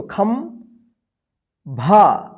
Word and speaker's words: खंभा: खम, देखिए खन नहीं पढ़ेंगे इसको, खम भा, खंभा, देखिए यहाँ पे ये जो ऊपर बिंदी है यहाँ पे जो है ना आधा म के रूप में उच्चारण हो रहा है।